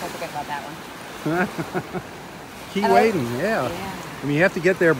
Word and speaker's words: Keewaydin: Keewaydin, that's right. We went to Keewaydin, and oh my gosh, as you come around